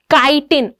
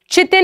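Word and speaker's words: chitin: इसकी प्रोनाउंसिएशन बहुत इंपॉर्टेंट है, इट इज काइटिन। चितिन नहीं पड़ेगा कोई भी, ठीक है। इसको चितिन नहीं पढ़ना, CH है, बट ऑब्वियसली इंग्लिश में तो अलग अलग टाइप की प्रोनाउंसिएशन होती है। CH से क भी होता है और CH से च भी होता है। तो ये है काइटिन।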